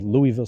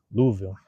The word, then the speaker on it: Louisville: Am I saying that correct? Hey, there's a right way. You guys say it right and wrong way. Louisville. Nobody says Louisville. Louisville. That's what somebody said one time. They said, "Don't say no Louisville. It's Louisville."